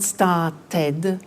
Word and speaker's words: started: group is actually easy if a verb ends with a t or a d then the pronunciation of e d becomes id and in fact it's